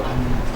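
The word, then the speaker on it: أنّى: Kalau alif bengkong bacanya nggak mungkin ani, tapi an.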